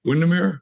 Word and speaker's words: Windermere: are now is that how you say it Windermere yeah yeah yeah yeah it's beautiful it's beautiful